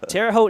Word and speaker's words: Terre Haute: Terre Haute.